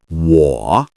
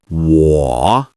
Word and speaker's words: 我: First, 我, meaning I or me. Say it slowly. 我. Perfect. This is a third tone, so your voice dips and then rises.